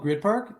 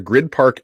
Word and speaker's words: Gryd Park: blocks from the arena the grid park app yep it's spelled gryd park and you know what